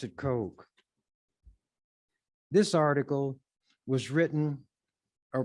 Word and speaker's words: Koch: who has that as a name Coke some cook others C but the CES pronounce it Coke this article was written or published October the